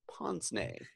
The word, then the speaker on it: pince-nez: my tablet pass it it is spelled pinc e - n easy Ponce name yes it's spelled pince-nez but you say it Ponce named relatively good yes suggestion